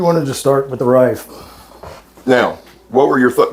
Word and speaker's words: Reiff: We're going to go with the German pronunciation, Reiff, R-E-I-F-F.